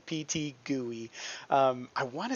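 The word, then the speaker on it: PTGui: is called pt gui don't pronounce it any other way pt gooey um i want to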